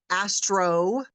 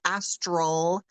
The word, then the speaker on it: astral: First of all, astral travel, sometimes people mispronounce it and call it astro travel, but it's astral, A-S-T-R-A-L, astral travel.